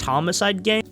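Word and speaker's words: Homixide Gang: They would later sign Homicide Gang, which is spelled like this for some reason, but is pronounced homicide gang, but like why?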